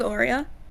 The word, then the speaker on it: Aurea: Her name is Aurea. And no, I've never told anybody that. Aurea, like an Oreo with an A.